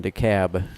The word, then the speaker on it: DeKalb: Took me the longest time to forget about the L in DeKalb, because up in the Midwest it's DeKalb.